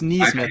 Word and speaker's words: Nesmith: Even Nesmith or Neesmith. I think it's Neesmith. It's Neesmith, because when I was